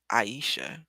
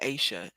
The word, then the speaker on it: Aisha: mess her name Asia it's spelled Aisha is a i h a and we in my community will say that's Aisha or Asia asa's DIY yeah they're